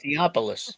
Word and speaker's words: Theopolis: Pronounce that. Theopolis.